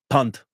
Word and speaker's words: Pant: No, it'll be Punt, because his name is spelled Pant.